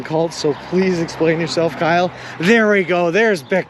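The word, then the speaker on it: Kile: i was in cleveland his name is kyle with an i k-i-l-e really really cool dude my commuter says his name wrong it says kylie when i put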